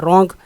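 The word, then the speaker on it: wrong: रॉन्ग वैसे गलत को कहते हैं, डब्ल्यू खामोश है इसमें।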